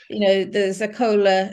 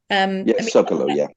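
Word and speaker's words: Zócalo: Even the Zacola, is that the right way of pronouncing it, the main square? Zocalo, that's such an epic scene, and it is.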